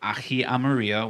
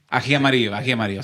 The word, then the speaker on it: ají amarillo: So I have this chili pepper here, which is called ají amarillo, which is a Don't say it like that. ají amarillo.